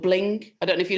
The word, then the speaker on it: BLINQ: Is it Bling or Blink? I can't spell it. I think it might be Blink with a Q.